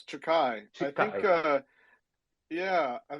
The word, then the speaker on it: Chikai: if I butchered it no you pronounce it well it's takai I think uh yeah